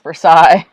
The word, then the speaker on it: Versailles: And then, yes, there is North Versailles. And it should be North Versailles.